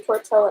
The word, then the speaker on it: tortilla: chips and tortilla chips yes i did just say tortilla chips that's the correct way to say it okay okay so let's